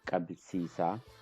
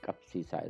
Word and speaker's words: kapsisa: So if we put it, it's gonna be Kabsisa, but that's not right. Kabsisa is not the right word. Kapsisa is the right word.